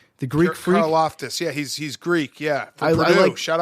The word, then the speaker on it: Karlaftis: Karlaftis, yeah, he's Greek, yeah.